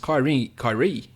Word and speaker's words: Kyrie: On DraftKings, Kyrie, that's how you say it, 67.5.